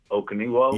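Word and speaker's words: Okonkwo: Let me try to pronounce his last name. Okaniwo.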